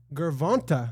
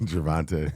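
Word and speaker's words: Gervonta: Breaking the Jake Paul verse Gervant. Is that how you say it? Gervante.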